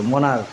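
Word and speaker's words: monarch: যেমন এখানে কিছু উদাহরণ, মনার্ক, এর উচ্চারণ কিন্তু ক, এই দুইটা মিলে উচ্চারণ হয়েছে ক, চ হয় নাই কিন্তু। মনার্ক, এই জন্য শুধু এস হয়েছে।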